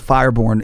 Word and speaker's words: Firebourne: And the name of name of the clan in our game was Firebourne, and it's B-O-U-R-N. That's how it's spelled. Like Born Identity.